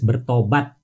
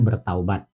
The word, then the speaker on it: bertobat: Di situ tertulis bertobat, bukan bertaubat.